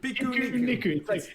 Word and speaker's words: Pikuniku: Was it Pikuniku coming to Stadia? Pikuniku. It's the Japanese word for picnic.